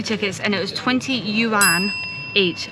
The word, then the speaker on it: yuan: I'm saying it right. I used to say it wrong. I've got to remember how to say it. Yeah, you see on the last series and the beginning of this series, we called it the yarn, and everyone in the comments has been saying, you've been saying it wrong.